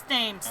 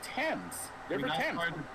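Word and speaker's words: Thames: It's ths actually. No, it's the river temps. No, the river ths. Oh my god. No, it's pronounced tames.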